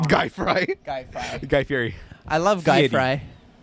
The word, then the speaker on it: Fieri: And Guy Fry was literally on. Guy Fry. Guy Fry. Guy Fieri. I love Guy Fieri. Fry. Guy Fry. Fieri. Guy Fry. You have to pronounce it Fieri.